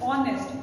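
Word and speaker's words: honest: तो अगर आप इसको प्रोनाउंस करेंगे तो इट इज ऑनेस्ट। तो साउंड हमारी ओ की आ रही है।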